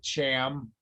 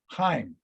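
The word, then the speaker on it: Chaim: in his missouri draw he cannot pronounce c-h-a-i-m truman says look cham he calls him jam and weitzman says heim and they both start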